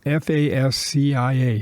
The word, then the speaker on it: fascia: edge rake board fascia see how that's spelled fascia f-a-s-c-i-a fascia fascia we often pronounce it as and soffit s-o-f-f-i-t soffit